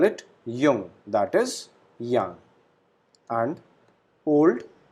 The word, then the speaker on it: jung: we call it schwak then young that is jung whenever we use j alphabet in a given word your sound is produced so we call it jung that is young and old which is alt